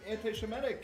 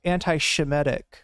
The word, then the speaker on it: anti-Semitic: I thought you cared because they were like anti-Semitic and being weird. Nah, Okay. it's just fun. Comedic mispronunciation of anti-Semitic aside, chat for the record. Our relevant just said anti-Shemitic.